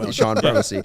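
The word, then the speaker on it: Chone: it's like sean marshall oh yeah what about sean figgins c-h-o-n-e yeah so that's a good call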